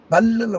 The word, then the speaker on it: பல்லி: தமிழ்ல லா எச்சரிக்கையா உச்சரிக்கணும் நாக்கு இந்த பல்லுல முட்டுனா பல்லின்னு ஒரு தடவ சொல்லி பாருங்க பல்லி அதே நாக்கு அந்த அண்ணாக்கள்